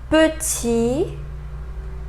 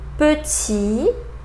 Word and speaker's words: petit: Final T, petit, petit, étudiant, étudiant, président, président. So final S and final T, I didn't pronounce them.